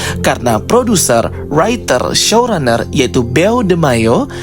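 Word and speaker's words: Beau DeMayo: producer writer showrunner yaitu beo Deo atau cara bacanya be De Mayo ya ya pokoknya itulah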